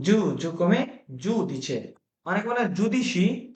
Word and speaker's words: giudice: জুদিছে। ওকে, জুদিছে, কি বলে? জুদিছে, Giudice.